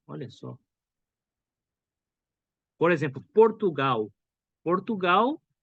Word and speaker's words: Portugal: Portugal se escreve com L no final. Portugal, né? Mas no português do Brasil a gente escuta Portugal.